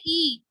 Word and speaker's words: y: E. This Y is pronounced as E in Spanish.